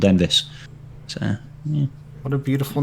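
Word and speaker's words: Enfys: pronounced it's actually pronounced envis not Enis it's more like a V but Americans not going to pronounce that way yeah but it's yeah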